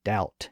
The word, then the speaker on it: doubt: Latin and Greek roots, like the B in doubt and debt.